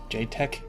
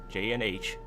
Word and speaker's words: Jaetch: channels different games so i just took my first and last uh initials j and h pronounce j pronounce h you get h just